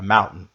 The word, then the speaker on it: mountain: a Mountain a Mountain com o tezinho e a Mountain a Mountain você vai engolir o t tá a Mountain we